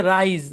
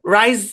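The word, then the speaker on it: rise: হবে আইস মানে বরফ তারপর এটার উচ্চারণ হচ্ছে রাইজ রাই মানে জেগে ওঠা এখন আপনি যদি এটাকে এস উচ্চারণ না করেন তেরামি করেন সব জায়গায় তারামি করা যাবে না ভাই কিছু জায়গায় অবশ্যই উচ্চারণ করতে হবে নয়তো অর্থ চেঞ্জ হয়ে যাবে মানুষ ভুল বুঝবে এখন আপনি রাইস রাইস পড়লে মানুষ বুঝবে ভাত বুঝাচ্ছেন বুঝেন নাই এরকম তারপরে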